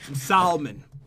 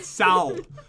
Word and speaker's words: salmon: some cooked salmon okay salmon pronouncing it the cool way Sal no one ever says it like that you know I know